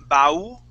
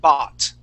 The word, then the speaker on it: bought: Yeah, so on this word, instead of saying bau and pronouncing that U, we would say okay, ba, just an ah sound, bought.